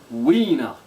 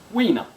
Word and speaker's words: Huina: Ina is actually pronounced winner like winner but we know we know it's like a w but with a kind of a h pronunciation at the beginning so it becomes weiner everyone's gone who we